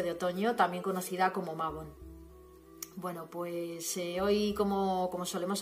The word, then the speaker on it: Mabon: Mabon, también pronunciado Meibun, es la fiesta del equinoccio de otoño.